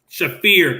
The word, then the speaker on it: Shafir: it was was it is it shafir how do you say your name marina shafir shafir thank you it was shafir versus